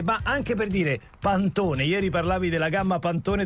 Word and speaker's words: Pantone: sia Pantone it Ah sì Pantone forse diranno pantoni pant aspetta Pantone Pantone Adesso vediamo se è